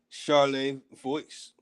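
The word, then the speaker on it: Charlevoix: pierre francois xavier day charlay voice charlotte voyage you really don't pronounce the x on that so wrote in 1744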